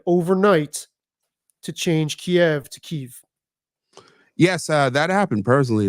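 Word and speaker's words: Kyiv: everybody is pronouncing Kev keev and it's like and because K because if I if I'm remembering the rationale correctly Kev is the Russian pronunciation God and keev is the Ukrainian pronunciation right is there that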